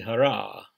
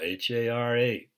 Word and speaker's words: Hara: below the naval in Japanese it's called the Hara h a r a it's called other things